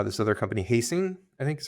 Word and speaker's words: Helsing: and I don't know how this other company hasting I think is how you pronounce it. Uh, Helsing.